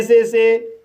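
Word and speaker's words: saw: इस तरह से पे पढ़ा जाएगा और पे मीन्स चुकाना। गाइस, इन वर्ड्स में ए का उच्चारण अ होगा। जैसे एस को सा पढ़ा जाएगा, ए को ओ पढ़ा जाएगा और डब्लू साइलेंट रहेगा।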